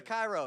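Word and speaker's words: Chi Rho: So the Cairo.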